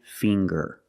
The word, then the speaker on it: finger: ginger very good and finger finger we see the nasal sound plus the hard G the G fing GG G finger I have